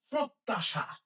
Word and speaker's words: প্রত্যাশা: এরপরেরটা প্রত্যাশা। প্রত্যাশা। প এর সাথে রফলা আছে। তাহলে প এর সাথে রফলা মানে এটার সাথে একটা অ আছে। প্র আছে। কিন্তু এটার উচ্চারণটা এর মত হবে।